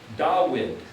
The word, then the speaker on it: David: So the word David would have been pronounced Dawid, or Dawid, or something like that.